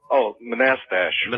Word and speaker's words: Manastash: How do you pronounce the name of your town? Manastash? Monastash. Right. So I'm going to pause it there for a minute.